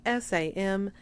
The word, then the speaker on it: Samhain: Now, I understand that it is spelled Samhain. It's pronounced Samhain.